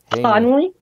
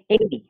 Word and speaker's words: Haney: Everybody, can you help me with that pronunciation, please? Devin Haney? Conley? Haney. Haney. Haney. Oh, Haney.